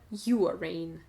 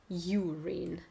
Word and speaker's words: urine: То есть буква Ю читается как в алфавите, как в открытом слоге. Urine. Или urine. Звук там ускользающий, то ли он есть, то ли его нет. Urine or urine, something like that.